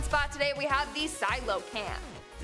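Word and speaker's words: coelacanth: our number one spot today we have the silo cam the silo can't which is spelled nothing like it's pronounced i thought it would be like koala camp but no i guess not anyways these dudes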